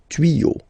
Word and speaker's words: tuyaux: Des tuyaux, same rule, you don't pronounce it.